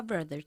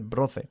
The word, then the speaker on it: brother: Una palabra que a veces pronuncian mal los españoles es brother. No se dice broce. Brother. Brother. Bajando una vez más la mandíbula para producir este sonido.